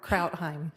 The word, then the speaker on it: Krautheim: Kraut Krautheim. Krautheim. Okay. I'm going to write that in phonetically.